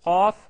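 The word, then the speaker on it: ق: Avec la lettre Qaf, on recule un petit peu le fond de la langue qui touche au pavé supérieur vers l'arrière pour la distinguer du son Kef.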